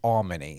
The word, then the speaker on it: Almony: he said to me, just think of all money. It's Almony.